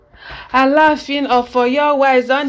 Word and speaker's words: Alaafin: Yeah, so I can't go meet Yoruba person, maybe pronounce the name as before they say Alaafin.